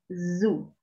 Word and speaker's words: zoo: For example, if you pronounce Sue, es un nombre americano, como Susana, kind of, like in the American context. Different from zoo. Entonces, siempre que encuentren una Z al inicio, tiene que vibrar, porque si no la